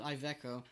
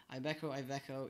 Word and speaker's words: Iveco: Iveco, this one, or I suppose you pronounce it Iveco. Iveco. It's the Spanish V pronunciation.